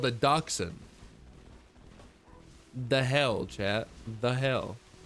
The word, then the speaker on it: dachshund: Yeah, I always thought that it was a dashend, but I guess it's not. I guess it's not a freaking dashend, and it's a dachshund.